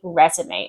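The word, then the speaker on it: résumé: We say resume and there's an accent on the E.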